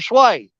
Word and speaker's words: swai: Yeah, those are sway. It's SWAI. That's how it's spelled.